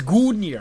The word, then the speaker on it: Gungnir: So he has another one called Gungir's Lance, or Gungir? Gungir? Gungnir? How do you pronounce this? Gungnir. It's Gungnir.